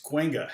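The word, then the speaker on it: Cahuenga: say this name street and you're like it's kwenga how about this one you know it's like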